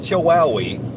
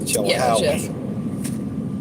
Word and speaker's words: Chilhowie: It's not Chihuahua. It's not a Chihuahua. It's not a Chihuahua. I believe, if you check the pronunciation on Google, it's Chilhowie.